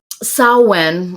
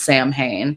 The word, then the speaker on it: Samhain: Samhain, or if you read it, it looks like it's pronounced Samhain.